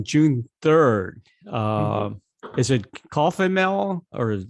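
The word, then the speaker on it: Kofmehl: 3rd uh is it coffee mel or how do you pronounce it cough mel cough melon okay cough mail if you want to remember that name think of cough mixture you know okay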